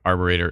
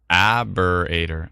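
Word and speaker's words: arboretum: had me laughing with the pronunciation of our arboreter it's aberrator aberrator was I saying Arbor or am I getting an extra R from anyways aberrator my bad everybody says no if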